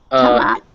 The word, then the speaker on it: thumb: Thumb up. Hmm? Thumb up. Thumb. Tongue. Thumb. Thumb. Yes, thumb. Once again, yeah. If there's an M before it, you don't pronounce it.